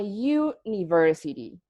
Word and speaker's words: university: ah okay a vowel however you have a university why not onion university sounds weird the thing is that the letter U at the beginning of